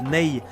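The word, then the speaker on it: nay: C'est la fameuse flû en roseau qu'on appelle le NE. Donc à l'occidental, ça s'écrit N A Y.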